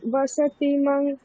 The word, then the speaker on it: বসতিম: স্যার বলছি যে ওই লাস্ট যে লাইনটা ছিল স্নিগ্ধা ওই বসতি মং, ওইটা অনুসারটা কি ওই অঙ্গ উচ্চারণই হলো? না, এখানে অনুসারটা ম বলবো, স্নিগ্ধ ছায়া তরুষু বসতিম, ম বলবো, ম।